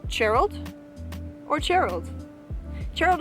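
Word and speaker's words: Chairald: Gerald is spelled like chair, C-H-A-I-R-A-L-D. Gerald, like Gerald. So it's not with an E or an O, like other people think it is.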